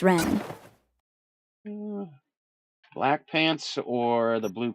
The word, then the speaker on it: Wren: It's Ren.